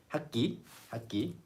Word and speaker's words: 학기: 학기. It sounds like 학기.